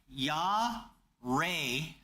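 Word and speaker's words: יָרֵא: this idea of fear it is pronounced ya Ray it means two basic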